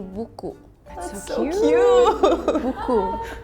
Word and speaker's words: buku: It's like B-U-K-U. It's how it's like written. Buku. And you just read as it is, like buku. There's no differentiation in the pronunciation or something.